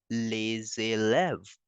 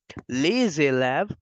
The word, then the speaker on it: les élèves: After the S, the next word is starting with the vowel, so we have to make the sound of Z. So that's why the students in French will be pronounced as les élèves.